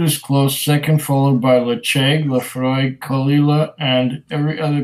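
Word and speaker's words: Ledaig: It's Lecheg, not Ledeg.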